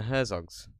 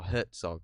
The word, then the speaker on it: Herzog: um going through werner herzog's or hertzog i don't know how you pronounce it verne herzog i don't know how you pronounce it there's no t in it but everyone pronounced it with a t is it hurts